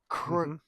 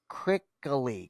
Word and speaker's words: Krikalev: Sergio, I can't quite pronounce his last name. He's Russian. Krikalev. Krikaley.